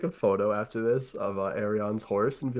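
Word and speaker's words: Aerion: It's Arion. It's Arion. Cuz if it was Aryan, his name would be Aryan Targaryen.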